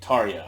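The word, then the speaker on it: Tarja: floor tarya all right t-a-r-j-a tarya i'm sorry that's how that's pronounced okay um don't know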